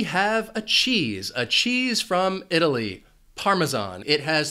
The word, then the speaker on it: Parmesan: One reason this word can be a little confusing is because that S has a Z sound, Parmesan. Parmesan.